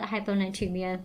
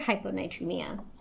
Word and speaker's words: hyponatremia: just being dumbass and guessing how this is pronounced but I didn't. So, I'm going to call it hyponatremia.